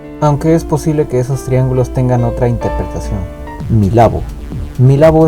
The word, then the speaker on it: Milabo: Milabo is the Japanese pronunciation of Mirror Ball, which means: "Disco ball".